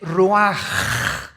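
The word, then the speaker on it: רוח: El ruaj que se escribe r u a c h ruach en el hebreo y se pronuncia igual roj.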